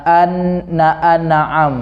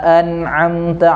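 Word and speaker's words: أَنْعَمْتَ: ini sering sekali itu Saya dengar orang-orang membacanya na an-na'aam na an-na'aam Na'am itu kliru kurang bagus lah didengar harusnya sirotol ladzina an amta alaihim dia enggak ada Jeda tapi dia langsungnya dan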